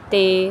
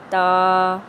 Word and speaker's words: ت: نے یاد رکھنی ہے۔ حروف مفردات کو تجوید و قرات کے مطابق عربی لہجہ میں ادا کرنا ہے، اردو تلفظ سے پرہیز کرنا ہے، یعنی بے، تے، سے، ہے، خے، توئیں، زوئیں وغیرہ ہرگز نہیں پڑھنے، بلکہ با، تا، سا، ہ، خ، تو، زو پڑھیں گے۔ حروف مفردات میں سے